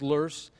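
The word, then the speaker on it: loess: plus L o ESS it's a german word pronounced loose is windblown silt so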